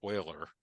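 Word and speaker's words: Euler: mathematicians like uh Leonard Oiler uh who's basically famous for having a name that is pronounced differently from the way it's spelled um created so much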